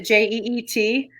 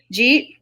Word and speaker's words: Jeet: Although I think here it's spelled, what is it, Jeet? Jeet, like did you eat?